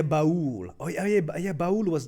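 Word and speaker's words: Ba'ul: Is that pronounced Bahul or Ball? Oh, yeah. Bahul.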